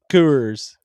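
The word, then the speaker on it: FCUKERS: I think the f is silent. Just cuckers. Yeah, cuckers. It's cuckers. Like the beer.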